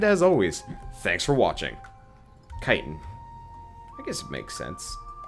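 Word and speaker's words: chitin: worth it kit oh chitt is pronounced kitan good to know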